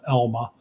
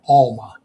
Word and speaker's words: Alma: Camp Elma. Camp Alma, actually, it's spelled ALMA, and it's out South Siuslaw River Road, out past Lorain.